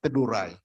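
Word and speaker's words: Teduray: I might terrorize you so the right pronunciation is tadurai okay our predicament in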